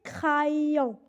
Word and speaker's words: crayon: Le dernier exemple, c'est crayon. Crayon. Dans ce mot, on a la lettre R et précédée de la lettre C, donc elle se prononce R.